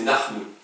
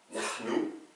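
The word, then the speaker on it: نحن: Donc, nahnu, c'est un H raclé. Hein? Nahnu. Quand j'écris un U, c'est toujours OU. Hein? Le son U n'existe pas en arabe.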